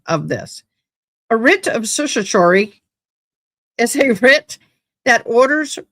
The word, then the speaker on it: certiorari: we get into it, is a writ of certiorari. I can't say this. Certiorari. So certiorari, it's spelt kind of interesting.